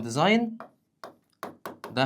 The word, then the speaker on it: designed: ما هو التصريف التالت من ديزاين ده فعل منتظم عادي، ديزاين ديزايند ديزايند، والجي سايلنت مش بتتنطق.